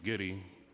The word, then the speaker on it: Giddy: Hello, my name is Giddy. That's the way you pronounce my last name, Giddy.